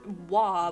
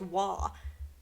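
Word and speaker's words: oie: goose or whatever as wah but spelled with every single letter that's not in that pronunciation it's spelled like o i e but is pronounced wah like what how can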